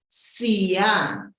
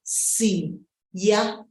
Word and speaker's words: Siya: This name, though, Siyabonga, this name is often shortened as Siya. Siya. That's for people who are amaZulu, who come from KwaZulu-Natal, the province. We say it that way, Siya. However, other people, especially people who are in the northern part of the country, will then say Siya, Siya, when they shorten the name. Depending on where the person lives, the pronunciation of the shorter name will either be Siya or Siya.